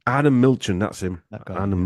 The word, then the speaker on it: Arnon Milchan: The producer, Aaron Millican. Who directed The Revenant? Arnon Milchan. Arnon Milchan, that's him.